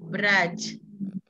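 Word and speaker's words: брать: Sedangkan kata yang kedua dia ada tanda lunaknya di belakang. Jadi kita bacanya lunak. Braj.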